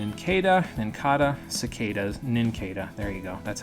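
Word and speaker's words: Nincada: you have an in kedah and kata cicadas ninketa there you go that's how you say it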